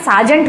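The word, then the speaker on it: sergeant: सर्जियांत ने लिखा है ये इसका प्रनंसीएशन साजन होता है साजन मतलब कोई कांस्टेबल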